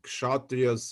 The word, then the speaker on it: Kshatriya: Well, it resembles a little bit India with its four castes of Brahmins and Kshatriyas and Vaishya and Shudra. Okay, am I right, or you pronounce it in other way, Anshita?